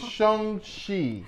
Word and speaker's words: Shang-Chi: It's Shang-Chi. You don't never know how to pronounce nothing that we do.